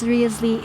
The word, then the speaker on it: Risley: It's Risley. It's a British surname. Oh, I see. Okay. I will stick with the Risley pronunciation for now.